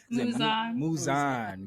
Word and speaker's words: Muzan: Well, he's Muzan. How do you pronounce his name? Muzan.